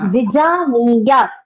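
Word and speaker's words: विजानीयात्: It is Vijaniyat. It's a halanta. You have to stop as Vijaniyat.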